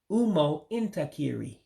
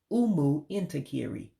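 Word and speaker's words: ụmụntakịrị: But children would be Umo Intakiri. Umu Intakiri. Let me say it right. I said it wrong the first time. It's Umu Intakiri, children. Umu Intakiri, children.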